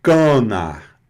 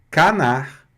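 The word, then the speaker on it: canard: Mas eu não vou falar canar. É canar. Por quê? Porque depois do A + N vem o A.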